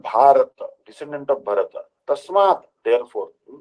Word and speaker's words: Bharat: Our country's true name is Bharat, pronounced Bharata, named after him.